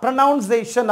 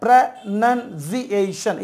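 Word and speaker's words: pronunciation: இதை எப்படி நம்ம உச்சரிக்கிறோம் அப்படின்னா ப்ரனவுன்சியேஷன் அப்படின்னு உச்சரிக்கிறோம். ஸோ இங்கே பாருங்கள், ப்ரனன்சியேஷன் இதுதான் கரெக்டான உச்சரிப்பு.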